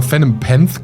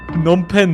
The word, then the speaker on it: Phnom Penh: Ich hätte mal Phenom Penth gesagt. Kambodscha. Phenom Penth. Okay, das ist verrückt. Spricht man das so aus? Phnom Penh, oder?